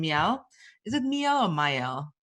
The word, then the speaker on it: Miell: Is it Miell or Miell?